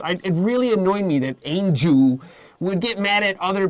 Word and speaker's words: Anju: She says, no, my name is Angel. I was like, Angel? It's just Angel, A-N-J-U.